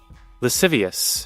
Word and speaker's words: lascivious: Lascivious.